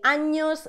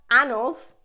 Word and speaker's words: años: Remember, be careful with the pronunciation of años. We say años, not anos.